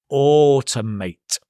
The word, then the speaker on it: automate: Now, another important word here is automate. Again, notice the stress on the or, and it's not a or ow, it's or, as in more, more, it's or.